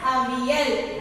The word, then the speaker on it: Avial: This is how you have to pronounce the word. A-V-L. You have to pronounce the word as Avial.